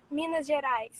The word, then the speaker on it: Minas Gerais: Minas Gerais. That sounds really cool and something that I shouldn't try to pronounce myself. Please try it. What? Say it one more time. Minas. Yes, Gerais. Minas Gerais.